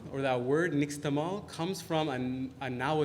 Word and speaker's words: Nixtamal: wood lie solution and the Spanish couldn't pronounce the word nish tamale so it became Nick's tamale and it became Nixtamal